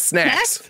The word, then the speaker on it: Snacks: Snucks? You say it right. It's Snacks.